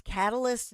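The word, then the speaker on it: Catalist: So, it's catalyst, not spelled correct correctly. It's cat a list. It's spelled as if it's a cat on a list.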